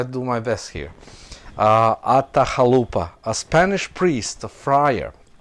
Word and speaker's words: Atahualpa: the young Inca king, and I need to pronounce his name very correct. His name was Atahualpa. Atahualpa. Well, I try to do my best here. Atahualpa, a Spanish priest, a friar, traveling with the